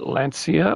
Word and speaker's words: Lancia: And then I'll show you the Gulf colored Lancia that I have. I say Lancia because that's how they pronounce it in Italy, Italian.